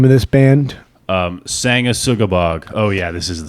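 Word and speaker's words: Sanguisugabogg: Brandon, could you tell me how to pronounce the name of this band? Sangasugabog.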